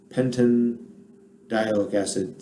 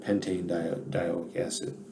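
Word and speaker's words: pentanedioic acid: i had pentandiolic acid pentin dialic acid sounds kind of weird so they put the e back in so it'll be pronounced pentane diaoic acid but i mean the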